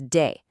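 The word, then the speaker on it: dé: For dar the yo form is day and at accent is there to make sure you say de day and not day and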